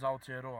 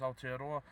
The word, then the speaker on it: Aotearoa: this video about bitcoins altiero I'm sorry I got the name wrong it is bitcoins out here door not out a little